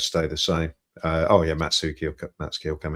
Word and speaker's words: Matsuki: We asked them, "How do you pronounce his name?" They said, "Matsuki." It's 100% Matsuki, all right?